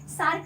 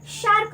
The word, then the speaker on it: SAARC: pronounce नहीं करते हैं वो उसको शार्क बोलते हैं तो ये शार्क जो समुद्र में मछली पाई जाती है वो वाली शार्क नहीं है ये शार्क है ठीक है सेब वाला सर है ये श नहीं है ये ठीक है तो